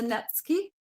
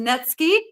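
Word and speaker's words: netsuke: one um it's a netki spelled Nuki but it's a netki I have learned how to say it um these were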